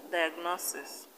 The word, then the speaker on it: diagnosis: the end what's like diagnosis osmosis processes share the second syllable from the end in diagnosis the stress is on no osmosis the stress is